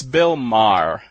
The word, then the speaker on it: Maher: Well, actually, this gets complicated already, but, okay, Bill Maher, it's Bill Maher, as in M-A-R-R. And with my name, it is Maher, so you actually say 2 syllables. But I'm much closer to Bill Maher than I am to Mayer, so.